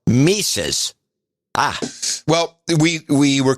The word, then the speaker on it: Mises: you guys would be the correct pronunciation of the name mises it's pronounced mises ah well we we